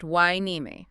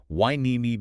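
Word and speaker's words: Hueneme: Feney pronounced Wimi. Correct. Wimi beach.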